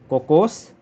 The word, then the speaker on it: कोकोस: एक कोकोस, cocoa नहीं, कोकोस, और दूसरा है क्रिसमस, सेंटा क्रिसमस।